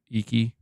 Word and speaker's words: Iki: The DLC, the how do you pronounce it again? Iki Island.